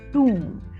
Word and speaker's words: tomb: sitting near the tomb tomb so here letter B is silent and letter O has long ooh sound we saw a monk there sitting near the tomb what's the truth what's